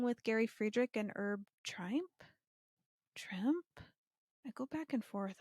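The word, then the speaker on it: Trimpe: Okay, everybody's on the edge of their seats to figure out how to pronounce Herb's last name. Trimp.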